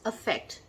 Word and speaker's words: affect: and the other is affect, which is a verb. Yes, there is a difference in pronunciation, but in the American pronunciation you will find both as effect, right?